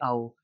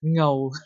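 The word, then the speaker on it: เอา: But like for example, when I teach Hong Kong people Thai, when I say ao, they will pronounce something like ngao like that.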